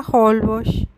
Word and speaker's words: Holbox: se pronuncia polvo y significa hoyo negro